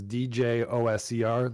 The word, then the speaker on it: Djoser: DJOSER, like Djoser. Oh yeah, Djoser. That's exactly right.